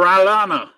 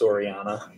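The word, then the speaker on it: Orellana: over chile fabian or alana i'm butchered that name no it's o-r-e-l-l-a-n-a yeah spanish the two l's is a y it's orianna orianna yep all right fabian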